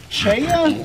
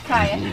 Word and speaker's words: chaya: Now, is it pronounced chaya? How is it pronounced? Chaya.